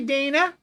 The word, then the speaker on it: Dana: name mispronounced do you Dana Dany we know it is Dana like Dan with a a on the end of it Dana Dan Dan Dan